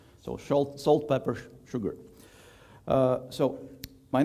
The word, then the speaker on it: Sshoogr: this letter combination and many people ask me how to pronounce that and it's quite easy it's sugar so shalt salt pepper sugar so my name is